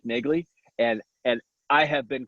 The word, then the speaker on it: Nagele: a little side note my last name is pronounced nick nigley and and i have